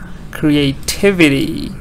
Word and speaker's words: creativity: uh creative creativity foreign so again you see the stress is shifting because here I say creative creative creative but here I say creativity so you see stress is Shifting it was an A Creative now it's on t creativity right it's now on